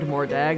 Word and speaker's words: Mordag: Then he named Mordag the second half. Pronounced like dog.